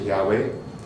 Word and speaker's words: Yahweh: mezcla de de Yahweh el símbolo que se pronuncia Yahweh y adonay no voy a meterme en esta